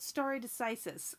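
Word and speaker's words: stare decisis: overriding principle and I do know how to pronounce this one it's called starry decisis okay it's the doctrine that judicial decisions stand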